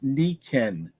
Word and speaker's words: Nikken: It looks like it says Nikken, but it's Nikken because you say the I is an E and the E is an A.